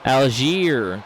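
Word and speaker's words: Allgeier: Alier, that's how you say his name.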